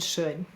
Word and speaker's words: should: Notice OU is saying its broad sound before a silent L, like in walk, talk, and chalk.